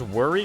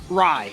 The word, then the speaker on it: wry: Is that pronounced worry? Rye? Rye. It's a wry smile.